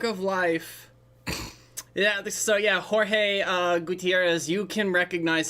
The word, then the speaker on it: Jorge: don't look at me Jorge gu I'm like Elementary level Spanish okay because I know that they the that in Mexico they pronounce their J's uh as an H like like H um yeah also I